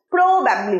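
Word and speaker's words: probably: Again, exactly, exactly না, exactly, exactly, প্রোবাবলি না। আমি কিরকম বলছি দেখো, প্রোবাবলি বলছি না, তার মানে প্রোতে স্ট্রেসটা পড়ছে না, কিসে পড়ছে? ব্যাব, প্রোবাবলি, প্রোবাবলি।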